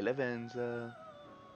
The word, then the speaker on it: Lavenza: played it welcome to the velvet room hi lavenza that's not even nice yeah that's how you pronounce it yes i know not whether to